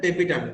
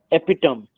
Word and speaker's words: tapetum: और fourth layer जो सबसे अंदर होता है उसको बोलते हैं टेपिटम। क्या बोलते हैं? एपिटम। टेपिटम, टेपिटम। Sir spelling उसका क्या होगा?